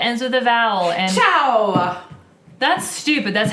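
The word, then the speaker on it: ciao: any word that ends with a vowel and Chow that's stupid that's how it's pronounced Chow that's still how it's pronounced but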